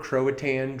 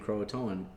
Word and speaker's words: Croatoan: So 100% of the time it's spelled Croatoan. It actually comes from the Algonquin word Croatoan, which means council town. So Croatan is just a hillbilly way of saying Croatoan. And I think, like, make the effort to say it right.